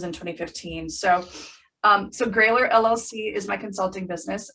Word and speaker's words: Grayler: exercise in history because i spelled the business name g-r-a-y-l-e-r thinking that would help people with pronouncing my last name epic failure all the